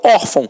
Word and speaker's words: órfão: E eu não falo orfão, eu falo órfão.